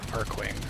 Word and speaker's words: Arcwing: Is it Archwing or Arcwing? They pronounce it in the story a few times. That was a long time ago. Still working on it. Continue to defend. Arcwing, okay. Oh, I get like Arcwing